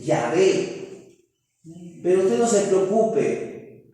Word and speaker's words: Yahvé: Por ejemplo, lo que para nosotros es una J, para el judío es como una letra muy parecida a la Y. Por eso es que le digo que la forma más probable es decir Yahvé.